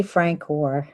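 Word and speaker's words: François: And it's Francois. Francois, I apologize. That's okay. I see a soft C when I look at that name.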